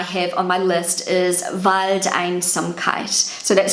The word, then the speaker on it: Waldeinsamkeit: Waldeinsamkeit. Waldeinsamkeit. I think that was good pronunciation of me.